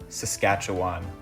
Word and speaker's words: Saskatchewan: Another province whose pronunciation I've learned since filming this video. Saskatchewan.